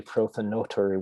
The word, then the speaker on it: prothonotary: bird plant for four prothonotary warblers uh actually i should call them pronunciat i should pronounce it correctly it's actually prothonotory warbler although nobody pronounces it that way um but here you